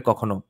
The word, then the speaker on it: কখনো: ধর্মজ্ঞান নাহি থাকে চোরের কখনো, ক্ষমাশীল নাহি হয় কদাপি দুর্জন। আচ্ছা, এই কখনোগুলো কখন হিসাবে উচ্চারণ করতে হবে।